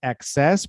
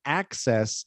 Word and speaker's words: access: So the stress syllable in access is the first one. So not access, like success is the second, but access is the first.